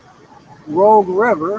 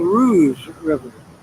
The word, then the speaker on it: Rogue River: the same and yeah Rogue River is where I'm at in Rockford but some people call it the Rouge River well that's on the